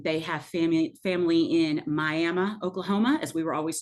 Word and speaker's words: Miami: in shenut um they have family family in miam Oklahoma as we were always told it is not Miami so those of you that are in Southeastern